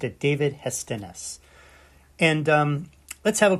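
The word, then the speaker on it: Hestenes: pronounces it David hestennis hestones I know he pronounced it David hestones and um let's have a quick look at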